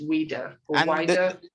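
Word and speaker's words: Ouidah: h-u-h-u-e-d pronounce them please o-u-i-d yes i would pronounce it as weirder and the name of the other region h-u-e-d-a that's also weirder yeah yes because i put that's how i pronounced them but they will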